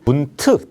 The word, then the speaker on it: Bund: 이 독일어 보면 BUND라고 돼 있는데 독일식 발음은 분트 발음입니다.